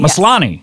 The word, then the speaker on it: Maslany: Maslany. Yes. Yeah. The law is the stress syllable.